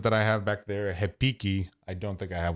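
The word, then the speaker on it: repique: have one around here it's spelled r-e-p-i-q-u-e like repeat but in brazilian portuguese especially in rio de janeiro anything that has an r at the beginning of the word becomes an h so it's hepiki so like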